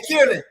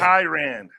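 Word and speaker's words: Kian: Hey Kieran, am I pronouncing your name right? Kieran, how you pronounce your name? Kyan. Kyan.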